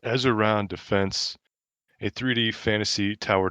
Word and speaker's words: Ezaron: Ezer yeah, Ezaron, I think it's pronounced Ezaron Defense, a 3D fantasy tower defense title.